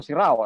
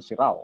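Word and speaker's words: Serrão: In fact, when Magellan returned already to Lisbon, Francisco Serrao, as the Portuguese would pronounce his surname, Francisco Serrao, although it's in Spanish it was Serrano, Serrano or Serrao would send letters to Magellan.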